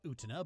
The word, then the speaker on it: Utena: Revolutionary Girl Utena, I know it's pronounced Utena, but I don't care, is an anime from the 90s that is considered mandatory watching for every sapphic weeb over 30.